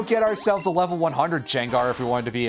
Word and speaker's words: Gengar: It's our old friend Jengar, whose name is absolutely not pronounced that way, but I'm being annoying.